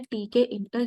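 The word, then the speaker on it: Tkinter: हैं उसका नाम है टीके इंटर या टक इंटर ये आप कैसे भी प्रोनाउंस कर सकते हैं टी के इंटर हम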